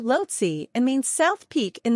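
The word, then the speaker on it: Lhotse: 10 highest mountains in the world lotsi is pronounced lotsi and means South Peak in the Tibetan tongue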